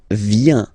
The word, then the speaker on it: viens: So, the first form is je viens. Je viens, okay? Remember this I, viens, viens, and then this nasal. Final S not pronounced.